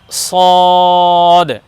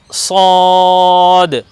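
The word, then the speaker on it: صاد: দেখুন এটাকে বলবো আমরা সদ এ বর্ণকে বলবো আমরা সদ সিনের মত হবে না আবার সিনের মত হবে না এটা একটু পৃথক হবে উচ্চারণে একটু পৃথক হবে দেখুন স আমরা বলবো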